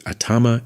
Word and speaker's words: Atama: The names should have been pronounced as Atama and Kaze.